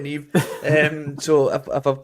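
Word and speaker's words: Niamh: I once called a girl Neve Niam when I read her name out once. Yeah, classic. I went, who the fuck's Niam? She was like, it's Neve. I was like, oh shit, sorry, Neve.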